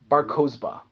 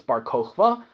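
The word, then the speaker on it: Bar Kosiba: Bar Kozba. Bar Kozba. So Bar Kozba is phonetically open to the multiple variants that he got. First, it was you're the son of a star, so that's Bar Kochva.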